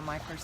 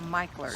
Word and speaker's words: Mickler: So- M-I-C-K-L-E-R, pronounced Michler. and that's a North Florida name. Well, it's not in other parts of the country, and in some parts of the country they call it Mickler, but down here it's pronounced Mickler.